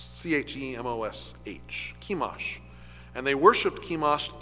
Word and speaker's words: Chemosh: At least I think that's how it's pronounced. C-H-E-M-O-S-H.